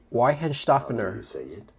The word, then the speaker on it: Weihenstephaner: Weihenstephaner.